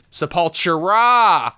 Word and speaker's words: Sepultura: many syllables but apparently that's the way it's pronounced so okay I will say it correctly from now on Sault chra and the other thing Celtic Frost and Celtic